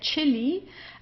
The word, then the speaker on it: Chili: Then here, that chili, here it's pronounced just as in English as a ch, okay, that chili, or or just the Spanish way also, okay, like chico, but here it's like the chili in this case.